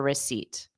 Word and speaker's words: receipt: r receipt receipt receipt so p is never pronounced in receipt it doesn't matter how you're using the word remember that English spelling